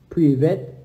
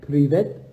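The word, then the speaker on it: привет: Privet. Privet.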